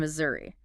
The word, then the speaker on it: Missouri: And Missouri. That S often sounds like a Z, and the stress hits the second syllable, Missouri.